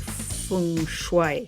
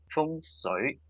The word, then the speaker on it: Feng Shui: Feng Shui. Yes, very good. The Feng Shui is more Mandarin. Then there's also a Cantonese version as well. And there's a little bit different pronunciation.